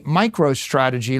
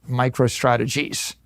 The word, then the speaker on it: MicroStrategy: Now I name my company MicroStrategy. Let me tell you, for 30 years, half our customers mispronounced it, microstrategies.